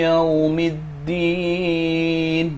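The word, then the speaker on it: يوم الدين: Kemudian yang kedua adalah ada wawu sukun yang jatuh setelah huruf ya. Ini dinamakan mad lin. Maka cara bacanya dibaca dua harokat.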